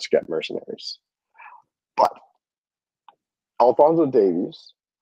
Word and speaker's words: Davies: know sorry is Alonso what sorry it's Alonso Davies not Davis and I get it that's how you say that's how you guys say it but it's Davies Davies okay yeah so it's weird a Canadian we